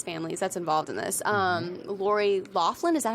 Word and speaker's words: Loughlin: Okay, so one of the famous families that's involved in this, Lori Loughlin, is that how you say her name?